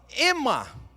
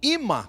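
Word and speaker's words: אמא: A própria palavra ema, ou ima, como a melhor pronúncia, tem a ver com uma cola em Israel que se gruda.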